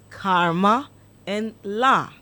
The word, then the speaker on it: Kamala: Okay, Kamala. yeah. Yes. Kamala Harris. She even taught people how to do it. It says you say karma and la.